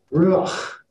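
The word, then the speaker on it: רוח: say this, because remember, it's got to come from the back of the throat. Ruach, right? You're supposed to be spitting when you say this.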